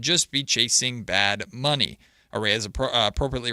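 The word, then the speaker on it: Arraez: Aras appropriately rhymes uh arise appropriately rhymes with prize.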